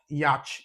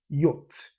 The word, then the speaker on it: yacht: It's not yach, it's yacht. It's not even y, it's yacht. The ch is totally silent.